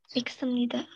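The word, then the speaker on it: 있습니다: Kak sama S nggak bisa ketemu dia gitu ya. Maksudnya nggak bisa dia gabung, dia tetap dibacanya iksemida. Gitu.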